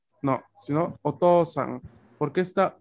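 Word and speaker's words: お父さん: Por ende, no se pronuncia como U, se pronuncia como otra O.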